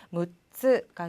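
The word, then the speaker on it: 六つ: 이가 안 들어가고 무츠가 된다는 거.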